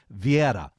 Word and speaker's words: Vieira: sure I got it right it said it's via yeah well Vieira is how we I pronounce it but via is the right way